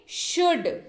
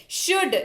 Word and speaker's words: should: SHOULD, लेकिन इसको पढ़ेंगे शुड, क्योंकि ल जो है यहां पर क्या है? चुप है, साइलेंट है। शुड, SHOULD, इसको पढ़ेंगे शुड, और एल का उच्चारण जो है यहां पर नहीं करेंगे। इसका सीधे सीधे अर्थ होता है चाहिए।